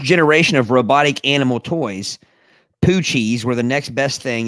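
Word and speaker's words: Poo-Chis: It's pronounced poochies. Poochies. Poochies. Poochies. I don't remember Poochies. Poochie. When I first looked at it, I thought it was poochis.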